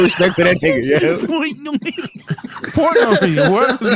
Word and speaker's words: Portnoy: Is that Dave not- Minoy. That nigga name is Portnoy. Is it? Come on, bro. Look how you said that nigga name, yo. You got no respect for that nigga, yo. Portnoy, whatever his name is.